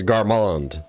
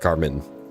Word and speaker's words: Garmond: It's Garmond, not Garmin.